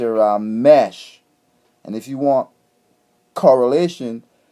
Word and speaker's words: Ramesses: We don't say Ramesses, we say Ramesh. And if you want correlation, look at some of those Hindu names. There are Hindu people that tell you my name Ramesh.